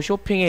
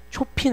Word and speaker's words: Chopin: 바하에서 쇼팽에 이르기까지. 쇼핑 아니고 쇼팽. 오케이? 발음 이상하지. 원래 이상하게 생겼잖아.